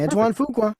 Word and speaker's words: Antoine Fuqua: is it that is that correct all right Antoine Fuqua yep there's so many names today that I don't know how to pronounce and I'm having fun all right so